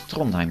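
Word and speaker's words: Trondheim: ever come to Norway you know how to pronounce tonim now oh okay he has the ability to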